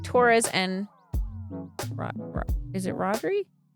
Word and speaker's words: Rodri: This name is pronounced Rodri.